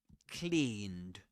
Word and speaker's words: cleaned: Cleaned with a long e sound.